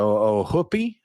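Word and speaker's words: Ohoopee: hoopy River but apparently the locals pronounce it like the double O in foot the oh hoopie River oh would be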